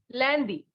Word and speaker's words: lundi: So Monday in French is lundi. Listen again. Monday is lundi. Spelling is Lundi, lundi. The sound of UN in French is So we have lundi.